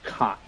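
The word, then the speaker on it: Kaat: Some and a good amount of new legends like Preston Wilson of the Marlins, Jim Cot of the Minnesota Twins. It's not pronounced cat, it's pronounced cot.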